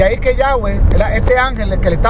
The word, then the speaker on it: Yahweh: La más aceptable es Yahweh, porque los samaritanos también eran parte de Israel en algún momento, eran parte de las 10 tribus del norte. Entonces ellos conservan esa pronunciación. Yahweh era como Yahvé, y de ahí ha